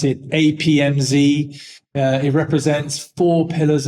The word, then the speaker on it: APMZEE: You know, we pronounce it APMZ.